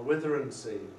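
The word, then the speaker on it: Withernsea: Escrick, Budworth, Howden, and Withensea, or Witheransea, as people in this part of the world call it, even though it's spelled Withensea.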